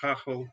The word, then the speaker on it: Gagel: on and of course my last name gagel pronounced hachel in holland and dad tells me